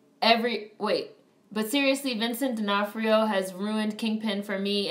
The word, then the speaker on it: D'Onofrio: played by Vin Diesel his name is not spelled phonetically at all no it's not it's not spelled phonetically at all Vincent D'Onofrio it really looks like D'Onofrio is Sicilian oh it's Sicilian Oh